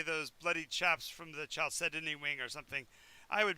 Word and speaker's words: Chalcedony: Chalcedony, how you pronounce it? No, it's Chalcedony. Believe it or not, even though there's an H.